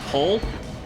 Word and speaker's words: Ple: It's piloted by a girl named Pole, P-L-E there, because that's what that is pronounced.